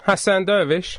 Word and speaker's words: Hassan Dervish: I think I pronounced your name wrong. No, no, you were spot on. Hassan Doervish.